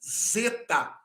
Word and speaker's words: zeta: duplas por exemplo o Zeta o Zeta ele é traduzido como d z ou Z no português por exemplo na palavra